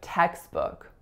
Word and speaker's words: textbook: So textbook only has two syllables, and both of the vowel sounds are lex. So the first vowel is e, and the second vowel is u, as in good.